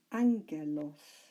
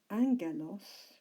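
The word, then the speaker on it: ἄγγελος: the first word is anger loss if you recall the double gamma in Greek is pronounced as an NG in English Angello's gives us the english word angel but angle loss doesn't mean angel it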